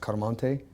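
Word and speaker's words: Chiaramonte: ch I AR mo NT e so actually pronounced car Montague and so I was adopted by my real father I mean by my stepfather dr.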